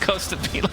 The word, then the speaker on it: Costabile: Found out today that Costabile is actually pronounced Costabile.